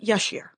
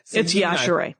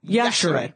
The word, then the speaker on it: Yashere: I have always said Yashere. I know, everybody does. It's okay. That's what I thought, let me tell you, as soon as I come in. It's Yashere. Yashere. Yeah. Pronounce the E, people.